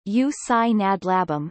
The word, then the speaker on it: Ústí nad Labem: Giusti nad labem check pronunciation you sign a blab um listen formerly known by its German name Asik